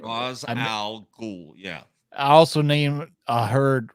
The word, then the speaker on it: Ra's al Ghul: Ra's al Ghul. All right. Ra's al Ghul. Yeah. I also named heard Rage al Ghul.